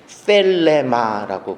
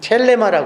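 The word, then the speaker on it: θέλημα: 아들을 보고 믿는 자마다 영생을 얻는 것이 하나님의 뜻인데, 이 뜻이라는 이 단어는 텔레마라고 그래요. 텔레마라고도 발음을 하기도 하고. 자, 텔레마라고 그랬는데, 이 텔레마라는 단어는 테로라는 말과 마라는 두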